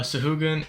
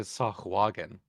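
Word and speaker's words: sahuagin: spell the creature that you just mentioned uh shugan sa a h u a g i n that's correct oh I got a three on initiative sure took me a second because I pronounced it s wagen oh I think it is so again I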